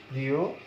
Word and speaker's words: প্রিয়তম: এখন তুমি যদি তম দিয়ে একটা উদাহরণ দাও, তম, প্রিয়তম, তাহলে এখানেও কিন্তু অন্ত যে অ আছে এটি ওকারের মতো উচ্চারিত হবে, প্রিয়তম, প্রিয়তম।